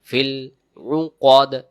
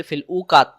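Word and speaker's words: في العقد: আমরা যদি বলি ফিল উকাত, উকাত, তাহলে কফ জবর কা হচ্ছে, এখানে হবে কফ জবর ক, দাল জেরে দিয়ে ক দিয়ে আছে, দম ছেড়ে দেওয়ার কারণে উচ্চারণ ফিল উকদ, ফিল উকদ।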